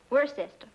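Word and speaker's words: Worcester: something else too doc but it's spelled w r c e s t e r wor sister oh yes I see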